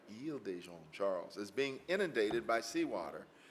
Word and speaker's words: Isle de Jean Charles: Is it Isle de Jean Charles or is it Ile de Jean Charles? All right, Ile de Jean Charles is being inundated by